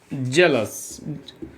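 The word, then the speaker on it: zealous: फिर एक वर्ड और आता है जेलस, नॉट जेलस, जीलस।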